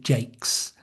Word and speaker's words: Jacques: From today, she'll pronounce it Jakes, the English way.